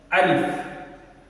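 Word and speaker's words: ألف: and all other parts that I used to pronounce letters so the first one is alif say after me alif Al alif the next one is ba ba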